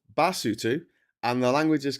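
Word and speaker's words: Basotho: Uh, lutu is pronounced lutu. The people are called basutu and the language is called cisutu.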